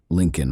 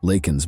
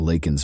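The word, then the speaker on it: Laken: To the thunderous cheers of his supporters, Biden mispronounced the victim's name during the speech, saying instead, "Lak Lincoln Riley."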